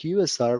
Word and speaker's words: usr: system whether it is user config Network config software config or any other configuration in the system USR also pronounced as user but better to pronounce it USR which stands for Unix